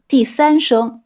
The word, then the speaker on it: 子: Petit rappel : « Zi » se prononce ici sur le troisième ton, zǐ.